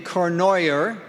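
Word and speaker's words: Cournoyer: A year ago, a year ago, January over in Clinton, they um took the sitting um state senator uh you pronounce her name Cornoyer. rhymes with annoyer.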